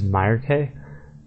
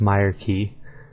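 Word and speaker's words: Myreque: too bad I guess next is Myer K and I had the Meer right but the K is actually pronounced key so it's Myer key then the next is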